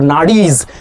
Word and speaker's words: nadi: subtle energy pathways or nadis that we call it nari in Sanskrit. Nadi okay long a long e nadi in Sanskrit.